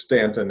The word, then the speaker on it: Staunton: It's spelled like Staunton, but it's Stanton in Virginia.